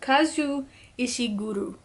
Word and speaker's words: Kazuo Ishiguro: Kazuo Ishiguro. Kazu Ishiguro. That's how you say it, finally.